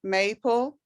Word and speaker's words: maple: thing is maple and when a word especially a short word ends in e and um the vowel in front of it is long so it's may a maple or row r o